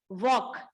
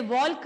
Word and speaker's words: walk: सो WALK इज वॉक. हम इसे वॉल्क नहीं कहेंगे क्योंकि यहाँ पर एल साइलेंट है.